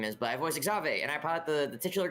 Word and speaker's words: Xavier: It's Exave. Excuse you. It is. It's even though I thought it was Xavier, but it's Exave. I think the um the subtitles spell it Xavier, too. Oh, it's spelled Xavier. It's not said that way, though.